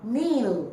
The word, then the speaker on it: knee: When you pronounce, you do not pronounce the k. You do not pronounce the k, you pronounce kneel. You pronounce knock. You pronounce knee. So k has no sound.